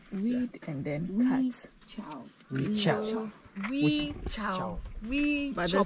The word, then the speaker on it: Wechiau: Wechiau. But the spelling is different. Huh. And the spelling, the we is the same thing like the English we. So Wechiau is spelled W-E-C-H-I-A-U.